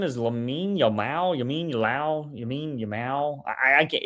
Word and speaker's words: Lamine Yamal: Yeah, Lamine Yamal, not Yamin Yamal. Lamine Yamal.